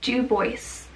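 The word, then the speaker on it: Du Bois: going to use the words of w.e.b dubois due voice and i triple checked on how to pronounce that name it refers to the dual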